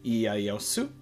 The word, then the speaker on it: Ieyasu: Next, we have, in English, Tokugawa Ieyasu, and that is how it is pronounced also in Japanese, is Tokugawa Ieyasu.